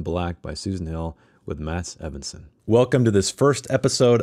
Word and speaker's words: Mats Evensson: And so I'm bringing on my good friend and writer, Mats Evensson, and he can pronounce his name the correct way. Welcome. Thank you. And yeah, it's mostly correct. Mats Evensson.